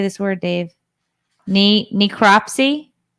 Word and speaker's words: necropsy: how do you say this word Dave NE necropsy necropsy yeah the necropsy it's for dead things